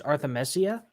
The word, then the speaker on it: Arthemesia: Well, the way I pronounce it is Arthemesia, but I guess it's more of a European word for absinthe, or something to do with absinthe anyway. So it's most people pronounce it Arthemesia.